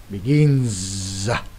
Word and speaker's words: begins: Như vậy cho câu này sẽ đọc là begins giờ chứ không phải s nha.